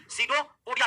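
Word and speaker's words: pseudopodia: सीडो पोडिया कहते हैं क्या कहते हैं सीडो पोडिया कहते हैं पी साइलेंट रहता है आगे वाला सीडो पोडिया पढ़ते हैं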